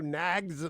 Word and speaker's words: Knaggs: Is Knaggs the right way to pronounce it?